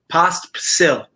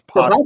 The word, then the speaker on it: Pospisil: Pospisil, am I pronouncing that right, Scott? Pospisil. Pospisil, and I only know that because I mispronounced it on our ATP pod yesterday, and they corrected me. It's Pospisil.